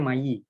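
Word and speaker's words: мои: Kalau yang pertama, yang huruf I nggak ada garis di atasnya itu ini dibacanya Mayi. Nah, yang ini Moy. I-nya jadi lebih panjang, jadi Moy gitu.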